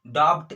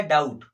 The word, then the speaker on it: doubt: इसको हम लोग ब नहीं, कहीं पे ब नहीं बोलेंगे, डॉप्ट इस टाइप से नहीं बोलेंगे, डॉप्ट ऐसे नहीं बोलेंगे, डाउट लिखा है, क्या लिखा है, डाउट, ठीक है, मतलब बी यहाँ पे साइलेंट हो जाएगा।